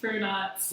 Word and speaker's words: Brunotts: Yes, Brunotts.